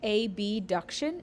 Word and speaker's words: abduction: This is often pronounced abduction in order to differentiate abduction and adduction, because ab and ad can sound the same.